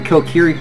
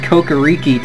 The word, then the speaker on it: Kokiri: I called the Kokiri Forest Kokoriki till I was like 18.